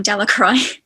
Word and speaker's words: Delacroix: and harry jones and dicky delacroix the villagers pronounced this name delacroix eventually made a great pile of stones in